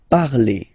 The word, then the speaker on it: parlez: Okay, remember a z, when you combine them together, you get the sound e. Vous parlez.